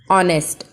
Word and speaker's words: honest: Every morning he puts some newspaper beside the entrance with an honest. H is silent over here, so we are using an honesty box.